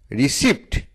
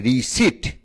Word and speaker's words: receipt: RECEIPT, যার মানে রসিদ। রিসিপ্ট, এই উচ্চারণটা সঠিক নয়। সঠিক উচ্চারণ হচ্ছে রিসিট। তাহলে RECEIPT, রিসিট। এখানে পি হচ্ছে সাইলেন্ট ওয়ার্ড।